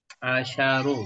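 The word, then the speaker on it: عَشَر: sukun bedanya asru banatin Jadi kalau untuk muanas pengucapan asarnya itu sukun asru kalau untuk Muzakar eh synya fathah asar gitu itu bedanya itu ada di eh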